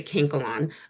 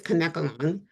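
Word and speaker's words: Kanekalon: premium fibers such as canacolon, I I don't even know if I'm pronouncing that right. Some people say cankolon, but I believe it's conkalon, which is a Japanese fiber, is a safer option.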